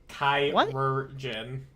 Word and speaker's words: chirurgeon: Is it pronounced as chirurgeon? Chirurgeon.